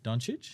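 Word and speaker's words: Dončić: Doncic?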